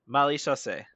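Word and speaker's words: Maréchaussée: Marechaussee.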